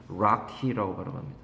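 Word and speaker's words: Rocky: 있다는 거죠 이렇게 산맥입니다 우리가 쓸 때는 로키 산맥이라고 쓰지만 실제로 발음은 락희 추후에 the arrive of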